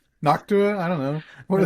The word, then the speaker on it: Noctua: Knock to Noctua. I don't know. What are they called? Noctua. No, you said it right.